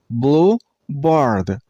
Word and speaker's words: bluebird: Bluebird. Bluebird. Stress on the first syllable. I mean on blue sound.